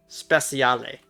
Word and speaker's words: Speciale: up with this oh it's supposed to be pronounced like an Italian word okay Speciale got it I already